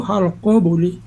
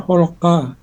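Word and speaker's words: خلق: Eh, maaf Bu Eli bacaan halka itu halqoi. Khalqa. Tadi bacanya kan kholqa harusnya kan halqo.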